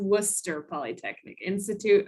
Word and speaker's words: Worcester Polytechnic Institute: easier for all of us but it is pronounced worcester polytechnic institute i know that's a difficult one to say